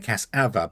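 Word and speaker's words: cassava: But you're saying I'm saying casser, which is a u, and I'm saying casava because I'm pronouncing the a.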